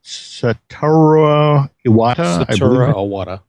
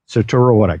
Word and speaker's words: Satoru Iwata: deal with Nintendo president, and I want to pronounce his name correctly, Satoru Iwata. Satoru Iwata.